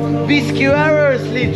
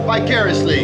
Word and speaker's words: vicariously: your age and they tell me I live viscously through me yeah and what does it mean vicariously and how do you say this word vicariously vicariously and many people say and they are